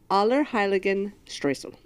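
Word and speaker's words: Allerheiligenstreusel: holy, and Streuzel, or however you want to pronounce it, is a cake. Heiligen. Aller Heiligen Streusel.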